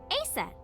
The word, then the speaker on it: Aset: is named Isis but in ancient Egyptian it's pronounced closer to EET or aset ah H how do I explain this horus's